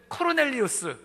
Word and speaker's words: 고넬료: 그 사람이 바로 그 고넬료 라는 것입니다 백부장은 요즘으로 치면 대위 정도에 해당되는 장교 적으로 이 고넬료가 우리 식으로 표현해 쓰니까 고넬료 g 라틴어 발음 으로 하면은 코르넬리우스 가장 전형적인 토종 논